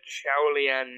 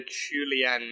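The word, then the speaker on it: Qiaolian: Okay, yeah, Melinda Chulian May. That's her name, Chulian. No, not Chowlian, Chulian.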